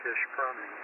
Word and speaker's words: Ishpeming: We stay at a little Airbnb in Ishpeming, or I think it's pronounced Ishpeming, up there, which is very near the old abandoned elf facility.